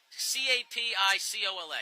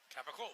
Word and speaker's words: capicola: but how do you no not the no c a p i c o l a how do you pronounce that capaca it is not pronounced capicola that's because your